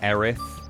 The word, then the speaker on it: Erith: I'm originally from a town in Kent called Erith, pronounced...